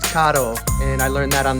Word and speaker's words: Kato: Yes, it is pronounced Kato, and I learned that on the internet for us beginners.